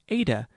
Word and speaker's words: Eta: Eta is pronounced like A in fate.